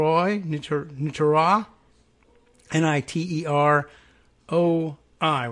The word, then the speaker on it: Niterói: new to inter ah ni ter oh I with the accent over the Oh you know what as